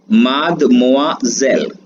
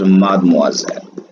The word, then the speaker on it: Mademoiselle: अगला वर्ड आता है आपका मादमोआजेल, MADEMOISELLE, मादमोआजेल। प्रोनाउंसिएशन इसका जो है यहां लिख देते हैं, इसका मीनिंग होता है मिस या कोई अनमैरिड लेडी।